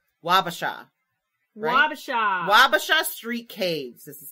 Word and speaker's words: Wabasha: sure i was saying it right wabasha babasha wabasha street caves this is called see i had